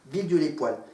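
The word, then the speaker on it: Villedieu-les-Poêles: Villedieu-les-Poils. P-O, accent circonflexe sur le E, L-E-S. Voilà, c'est pas le mot poil comme le poil de chat, poil de chien. C'est un autre poil.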